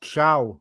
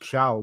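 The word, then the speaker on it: Thiaw: But uh right, first point, it's pronounced ciao. I know it's a t, but it's pronounced ciao. Malik chia. I don't know why some people just pronounce the names weirdly, but uh Malik Shiao, but I don't think he'll get many minutes.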